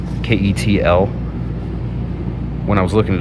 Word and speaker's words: KETL: I think it's pronounced Kettle, this brand. Ketl.